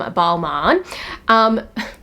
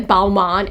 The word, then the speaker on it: Balmain: oh, don't take the Balmain exit, and my husband would be like, why are you saying Balmain? Because I think of Balmain, Paris, but it's actually Balmain.